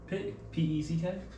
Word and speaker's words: Peck: P-E-C-K? Peck. You said P-E-C-K, yes. That's pronounced Peck. I don't know how you pronounce it. It's pronounced Peck in English.